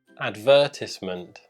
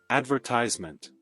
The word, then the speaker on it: advertisement: Nós vamos colocar aqui a pronúncia americana e o Dave vai repetir novamente essas mesmas palavras com o sotaque britânico, com a pronúncia britânica. Privacy. Privacy. Advertisement. Advertisement.